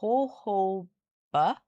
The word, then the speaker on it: jojoba: It's pronounced jojoba. Jojoba. For the first and second J sounds pronounced like a H because the word comes from Spanish where the letter J makes an H. So it's jojoba.